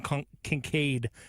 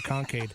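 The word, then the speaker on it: Kincaid: I'm gonna go with Dalton Concincaid. I almost did butcher it and called him Concaid.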